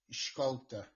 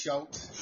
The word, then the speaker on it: Schultz: If you were saying it in the Dutch way, it'd be pronounced Scholte. Nice. I like it. Which would you prefer me to try the most? It's easy, just Schultz.